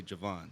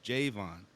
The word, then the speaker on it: Jayvon: spell Jayvon so I everybody calls me Javon cuz when they see the way my name is spelled they say Javon so I said no it's Javon oh cuz there's no a and if they and yeah so they think they think there's an A so I just like